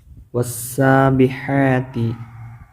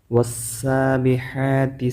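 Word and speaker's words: وَالسَّابِحَاتِ: ഇവിടെ നമ്മൾ മുമ്പ് പറഞ്ഞതുപോലെ ശംസിയായ അക്ഷരത്തിൽ പെട്ടതാണ് സീന് വസ്സ അപ്പൊ ഒരിക്കലും വഅസാ എന്ന് പറയില്ലട്ടോ കൂട്ടി ഓതുമ്പോൾ അലിഫ് ലാം ഉച്ചരിക്കൂല വാവ് ഉച്ചരിച്ച ശേഷം നേരെ സീനിലേക്ക് പോവുക ഇവിടെ രണ്ട് ഹാകൾ കാണാം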